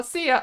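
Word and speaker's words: szia: And you say it like the singer Sia. Oh, Sia. Okay. Sia, Hazel.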